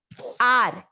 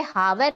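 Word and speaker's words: hour: आर, एच यू आर वाला, जो इसे हावर नहीं बोलते, ये आर होता है, इसमें एच साइलेंट है, तो हमें प्रोनाउंस करते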